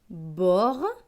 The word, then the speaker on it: borgne: Le mot suivant, B avec OR. OR, c'est or, donc B et or, bord. GN, GN, c'est gne. Avec le E, cela donne gne. Donc ce mot va se lire borgne, borgne.